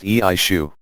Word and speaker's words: Exu: corporeal form through which an exude pronounced eishu called SCU said to